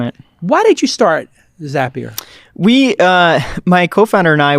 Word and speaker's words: Zapier: to figure out this little company known as zapier which makes you happier tim ferriss mispronounced it